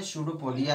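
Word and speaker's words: pseudopodia: वैसे इसका नाम है स्यूडोपोडिया। यह स्यूडोपोडिया है, पी साइलेंट है इसमें।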